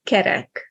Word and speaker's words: kerek: So for example, kérek and kerek. Kérek means I'm asking for something, and kerek means round.